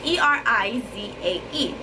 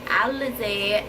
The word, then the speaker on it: Erizae: I came up with how I wanted to spell it, which is E-R-I-Z-A-E. He was not feeling it because he was like, I don't want it to be Erizae. But I was like, Elizae, Erizae.